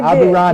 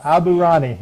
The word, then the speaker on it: Aburaneh: And I did get your name right, didn't I, when I pronounced your name? Yes, you did. Yes, you Aburaneh. did. Yes. Aburaneh.